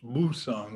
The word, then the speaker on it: Busan: It's near their harbor at Busan, now pronounced Busan with a B instead of a P.